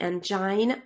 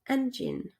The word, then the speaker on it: engine: in pronunciation is generally people say angina which is incorrect you say engine right next one is